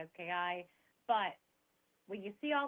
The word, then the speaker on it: Kozlowski: It's Kozlowski. It's Kozlowski. funny. A lot of people are, they get scared, and I would say it's spelled exactly as it sounds exactly as it's spelled. Kozlowski.